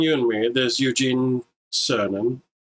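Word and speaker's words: Cernan: and me there's Eugene cernon pronounced with the Soft C as in sirloin and Jack Schmid the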